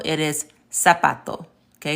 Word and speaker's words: zapato: we just learned how the Z sounds like the American S. So that was words like, instead of saying zapato, it is zapato.